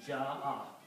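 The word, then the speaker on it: جاء: Also from the rule of tajweed, whenever you have a hamza and there is an alif before that, you have to put a mad on alif. You have to stretch it.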